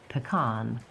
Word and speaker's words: pecan: First common way to say this word is pecan. Hmm? It has vowel I, like pig, in Right. the first syllable. Pecan. Pecan. Pecan. The stress is on the second syllable, con.